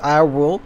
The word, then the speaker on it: I.RULE: probably maybe um and welcome to i dot rule i guess just pronounced i rule uh this is an